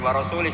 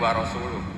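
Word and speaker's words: وَرَسُولُهُ: Allah itu terbebas, gak urusan dengan orang musyrik, wa rasulih juga gak ngurus Rasulnya. Kalau sama Rasul saja tidak ngurus, apalagi sama kita. Sama Sayyidina Ali dibenarkan, yang benar bacanya itu wa rasuluh.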